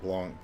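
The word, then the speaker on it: Blanc: at least you've got the pronunciation Blan being pronounced soft you know not a hard consant at the end meaning uh white in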